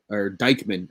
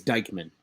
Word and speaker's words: Dykman: as we speak because I saw something earlier about Dykman is how you pronounce his name. Oh, Deichmann or whatever. Yeah, I learned today it's Dykman. It's Dykman is how you pronounce it, is Dykman.